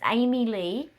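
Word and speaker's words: Aimee Leigh: on Tik Tok um but it's Amy Lee but it's spelled a i m e e or something and Le l e i g e h so anyway that's another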